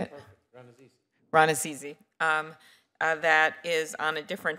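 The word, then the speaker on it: Rannazzisi: Ranasizi, I keep saying your name wrong. How do you say it? Ranasizi.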